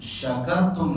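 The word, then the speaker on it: شكرتم: Jadi kalau antum baca surah Ibrahim ayat yang ke-7, wa in ta'adzana rabbukum la in syakartum la azidannakum, kalau membacanya pakai sin kecil maka fatal sekali artinya.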